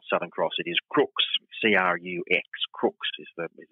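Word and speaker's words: Crux: the constellation is not southern cross it is crooks c-r-u-x crooks is the is the proper pronunciation of it and that means like a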